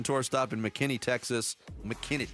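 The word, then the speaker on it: McKinney: McKinn, Texas. You have to say it like that.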